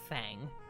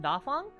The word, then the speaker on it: Dàfāng: kind of for everyone I don't like being called fang because um like I've been uh mentioning uh my name is pronounced daong uh and the name